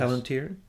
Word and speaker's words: Palantir: Palantir, yes. Palantir.